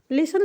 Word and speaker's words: listen: अब यहाँ पे लिखा है LISTEN TO, तो लिसन को हम लिसन पढ़ रहे हैं, टी तो हम पढ़ ही नहीं रहे हैं। टी इसलिए नहीं पढ़ना है क्योंकि यहाँ पे साइलेंट है, ठीक है?